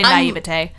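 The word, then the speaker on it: naïveté: That's naivety or I mean, some people say naivete.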